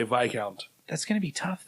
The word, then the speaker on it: viscount: not like I mean we literally have been mispronouncing this word so there's no mystery there so the second part of this is do do we Now Pronounce it vicount do we continue to pronounce it Viscount I think we have a duty now that we are smarter to make other people smarter so we say VI count from now on yes